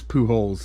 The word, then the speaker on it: Pujols: A pack of poo holes. No, but the name is poo holes. It's like Jones, like you say, keeping up with the Joneses. The poo holeses.